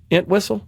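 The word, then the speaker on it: Entwistle: John, how do you pronounce his last name? Ant whistle.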